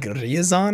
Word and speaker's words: Ryazan: Let's see, Twitch chat says that I'm pronouncing Ryazan wrong. Yeah, like, I give a shit, dude. I say Ryazan. People say it like Ryazan, I guess, or Risen.